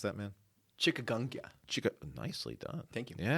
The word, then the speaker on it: chikungunya: Is that how you pronounce that, man? Chikungunya.